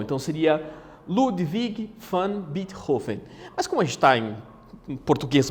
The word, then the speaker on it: Beethoven: Beethoven ou melhor dizendo a pronúncia correta dele seria birro Fini porque ele é Alemão então seria Ludwig van Beethoven as cores time em